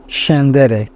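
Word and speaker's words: scendere: স এর মত হয়েছে সেন্দের এসসি এর পরে এ আছে এজন্য স এর মত হয়েছে সেন্দের নিচে নামাসি এর পরে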